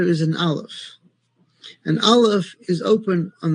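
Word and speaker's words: aleph: Every letter in Hebrew has a sound except for the letter alf. The letter alf is silent. It doesn't have a sound on its own.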